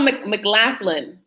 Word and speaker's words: McLaughlin: Like McLaughlin, it's spelled McLaughlin.